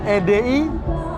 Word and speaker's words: AD: Oh, EDI. Nah, AND. E sama D doang. Yeah. Ed dibacanya.